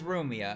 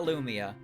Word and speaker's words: Rumia: nothing it's a no her name is rumia all right it's rumia it's not Lumia not Lumia not Lumia just rumia cools are winning cools